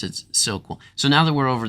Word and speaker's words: SOQL: that think uh or or believe that it's pronounced sock well and you're probably right but I'm the so